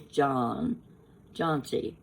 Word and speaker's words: Johnczy: His name is Johncy. His last name is spelled Johnczy.